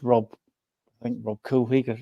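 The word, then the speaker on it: Rob Couhig: We're waiting for the new owner to come in, which is going to be Rob Coolwig, that's how you pronounce him, the ex-Wickham owner, who decided to try and buy our training ground when he was Wickham's owner.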